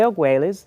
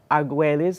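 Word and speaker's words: Argüelles: law of time uh was discovered by jose agueles volume vutan uh if you're not familiar with him i suggest that you do some deeper diving investigation jose agueles his last name is spelled a-r-g-u-e-l-l-e-s okay and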